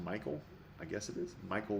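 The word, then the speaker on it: Mikyl: Michael I got I I guess M I K Y L is pronounced Michael.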